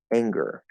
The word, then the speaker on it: anger: i noticed for example with the word anger anger anger oh there's a good there okay what if i try to take that away anger anger that doesn't sound like the right word anymore this is the strange